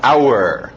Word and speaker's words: hour: Alright, continuando, o H é mudo, não pronuncia esse H. Hour.